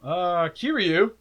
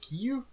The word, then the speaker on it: Kiryu: Kiryu, which is our new Mechagodzilla, or Kiyu. I think that's how they say it in the movie. Kiyu, yeah. It's in Japanese it was Kiyu. Kiyu. I watched English. I still call it Kiyu. But it has an R, so I just call him Kiryu.